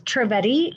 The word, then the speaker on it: Trivedi: It's Trivedi, and it's spelled Triv as in Victor, ED as in David, I.